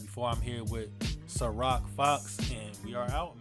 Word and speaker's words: SyRok: SyRok is how you spell my name. You pronounce it SyRok, like the vodka, but I'm older.